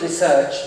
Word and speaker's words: research: The word research, which I'm pronouncing in the typical classical English way of saying it, with the stress upon research, is now really going out of fashion, even in England. The pronunciation has put the emphasis on research.